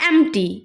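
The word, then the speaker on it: empty: खाली, एम्प्टी, एम्प्टी, खाली मतलब एम्प्टी, इसमें पी साइलेंट होता है।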